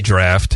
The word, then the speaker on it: draught: How do you tell me how you pronounce that? Because I never know. I always say draft. I think we've been told that it's both.